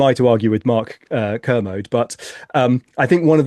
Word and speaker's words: Kermode: who's obsessed with this film, is it Mark Kermode or Mark Kermode? I've never figured out I whether think you're I've always said pronouncing like commode, but Kermit or yeah, the is it yeah.